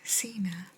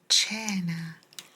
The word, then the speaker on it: cena: this does it disappear it's not Cena it's Chana Chana Chana what does Chana